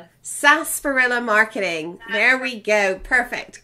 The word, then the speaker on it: Sarsaparilla: Okay, the R is silent. Sarsaparilla Marketing.